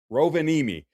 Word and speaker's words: Rovaniemi: It's pronounced Rovaniemi.